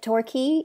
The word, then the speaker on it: Torquay: So you come from, how do you pronounce it? Torquay, England, right?